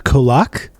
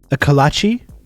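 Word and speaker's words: kolache: to get savage for trying to pronounce this a kolak is that how you say that and the answer is no i don't i'm not sure what that is akalachi okay i got it second try second try before before the chat reminded me it's a dang sweet role in texas we mispronounced it kolachi okay that's a tough one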